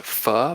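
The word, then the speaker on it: phở: off the name you wouldn't actually it's actually pronounced fu but we didn't know that at the time so we went with faux for all but uh that's the vietnamese noodle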